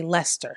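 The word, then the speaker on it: Leicester: live in Stokes there's another place called Lester it's spelled kind of it gives me like Worster Shire sauce Vibes but I Googled it and you it's you say Lester I think because I'm definitely not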